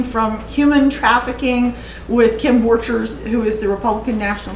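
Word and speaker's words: Borchers: talked about everything from human trafficking with kim vorchers who is the republican national committee woman and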